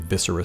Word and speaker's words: Viscera: feeder and viscera seer i don't know what people are thinking with the pronunciation of viscera seer but visceral is pronounced like that and viscera means guts so i think i'm pronouncing it correctly unless it's spelled backwards